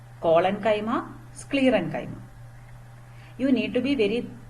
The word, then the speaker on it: sclerenchyma: okay so repeat after me parenchyma colon kaima sclerenchyma okay so first learn the names properly pronounce it several times to make it familiar